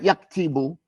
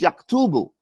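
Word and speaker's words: يكتب: It's not yaktibu or yaktabu, it's yaktubu.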